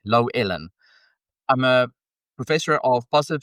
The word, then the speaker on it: Llewellyn: Uh, my name is two syllables. Low like her expectations of me and Ellen like the mean gay lady from TV. Low Ellen.